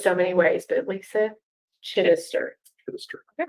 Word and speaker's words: Chittister: I've said it so many ways, but Lisa Chittister. All right. First syllable is enunciated. Write that down.